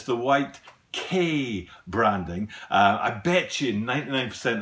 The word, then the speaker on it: Quai: That's how you pronounce it, is K.